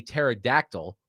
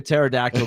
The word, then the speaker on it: pterodactyl: Why can't you hear a pterodactyl going to the bathroom? Pterodactyl going to the bathroom. I can't fit in there. Because the P is silent.